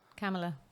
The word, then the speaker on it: Kamala: Kamala. Yeah. There we go. That's how you pronounce that one.